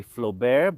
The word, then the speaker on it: Flobert: Here in Italy, we say Flobert, but Mr. Nicolas Flobert was French.